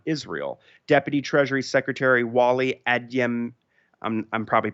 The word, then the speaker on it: Adeyemo: Deputy Treasury Secretary Wally Adeyemo, I'm probably pronouncing the name incorrectly, but it's Adeyemo, told House Democrats on Thursday.